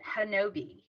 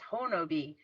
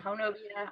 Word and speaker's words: Honobia: I call it Hanobi, I'm but gonna trust you. Okay. well, but people correct me and say it's Honobi. So Okay. whatever, All Honobi, right. Honobia, I don't know.